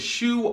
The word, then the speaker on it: shoe: the other shoe and the sounds of Shu are sh o it's got four letters but only two sounds our next word is